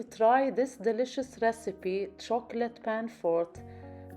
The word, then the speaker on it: panforte: this delicious recipe chocolate pan fort pronounced pan forte a rich chewy dark